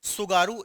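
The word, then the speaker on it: Tsugaru: सुगारू straight आपको याद रखना है ना, इसको ऐसे लिखते हैं, टी साइलेंट रहता है, सुगारू, ठीक है, सुगारू स्ट्रेट आपको याद रखना है, ठीक है।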